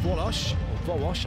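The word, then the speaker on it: Wołosz: Ngannou against Hark, Silja against Gabby, Karakunz against Hill, and Volosh, I should say. The L's got a little line across it, which turns it into a W in Polish.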